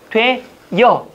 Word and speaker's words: 되어: 되어는 되어도 되지만 앞으로 오면 뭐가 되는 거죠? 되여. 이거는 된다는 얘기예요. 되어는 표준 발음이 된다는 얘기예요.